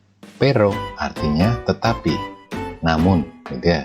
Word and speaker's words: pero: Pero artinya tetapi.